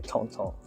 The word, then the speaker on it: Tintin: Museum they have a tinting exhibition going on I should say Tonto which is the French pronunciation um it's essentially a